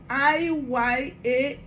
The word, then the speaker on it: Iyan: It is spelled as I-Y-A-N, Iyan.